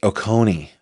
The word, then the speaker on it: Oconee: It's pronounced Oconee.